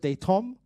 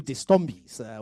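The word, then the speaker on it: Destombe: Was it Daytom? Yes, now we call you Distombis. We've been calling you Distombis for years. For a moment, I was like, good, do they have a new executive director at COSAFA? But that's the correct pronunciation.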